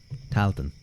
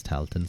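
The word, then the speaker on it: Tailteann: How do you pronounce it? Toilton, is it? Toilton? Tailton? I think maybe Talton. So it's just Talton. AI is just A, usually.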